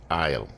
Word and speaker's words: oil: there's my all or as we say in Jamaica aisle the aisle you put the island on the pot and you make sure you know put too little or too much so you have enough to cover the thing then so the word you say is I'll like walking down the aisle That's How Jamaicans pronounce oil The Isle put the